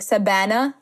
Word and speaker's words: Savanah: would say my name because there's no V in the Arabic language so she would say my name like sabana Savannah and um yeah so